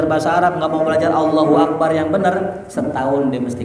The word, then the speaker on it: Allahu Akbar: Takbirnya cuman pendek, la tumaddu wa la tumattatu. Ya, bal yaqulu mudrajah musri'an. Nah, akan tetapi dibacanya apa? Musri, cepet. Allahu Akbar.